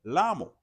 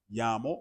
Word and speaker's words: llamo: So llamo or llamar starts with those two L's, but I didn't say lamo. I said llamo or llamar.